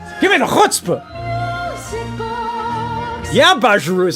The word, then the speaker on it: Bajiru: Yeah, Bajiru is how you say it.